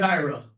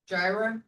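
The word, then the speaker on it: Jiara: We'll see you that you said Gyra. Gyra. Okay. Yeah. Can you spell that for me?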